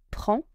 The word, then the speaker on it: prends: prendre verb ends with Je prends needs to end with S. Tu prends ends with S. But both are silent.